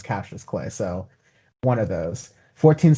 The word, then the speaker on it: Cautious Clay: cassius clay cautious clay spelled like cautious clay but said repeatedly in the album is captures clay so one of those